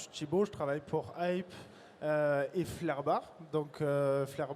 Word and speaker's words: Hyppe: On prononce bien Hype, on prononce Hype, on prononce comment? Hype.